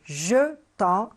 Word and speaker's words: jetons: T e nous jetons alors là la prononciation c'est jeetons c'est un seul t on n s vous